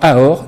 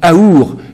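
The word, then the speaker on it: אור: cherche la lumière mais la lettre du milieu qui est la lettre vave qui est représentée par le sourcil et le nez veut dire se prononce aussi ou et donc on l'entend AOR ou aour et c'est pour ça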